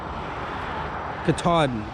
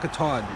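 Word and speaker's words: Katahdin: it is Mount cadan how do you say it kadan Kaden yes Mount Caden and then nice Lake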